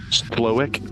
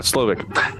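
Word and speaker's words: Slowik: introduced by Chef SLO slowick I always want to pronounce that W like a V like it's Slavic uh slovic as he would do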